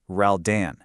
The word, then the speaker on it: Roldan: quote unquote, proving Alex Roldan was her father, Khloé's only public reaction was simply jumping into the comments to correct the pronunciation of his name. She literally just wrote, "His name is pronounced Raldan."